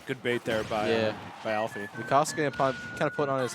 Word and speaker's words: Lukaska: So Lukaska, is that how I say it? Yeah, that's the pronunciation.